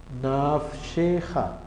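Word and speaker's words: נפשך: seguidas, mire, dos seguidas, la primera no suena. Entonces, esta que está aquí no la voy a tener en cuenta. La segunda sí. Entonces, por eso yo leo esto, naf. Aquí no leo nada, que es como si no existiera, y sigo, sheja, nafsheja, nafsheja.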